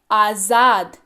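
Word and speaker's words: आज़ाद: सबसे पहली चीज इसको पढ़ते हैं आजाद। क्या पढ़ते हैं, ध्यान दीजिएगा, ज के नीचे नुक्ता लगा हुआ है तो ये ज हो गया। क्या पढ़ते हैं, आजाद।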